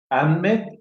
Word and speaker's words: Ahmed: Ahmed, así se pronuncia Ahmed.